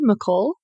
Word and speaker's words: McCall: Am I pronouncing that correctly? McCall?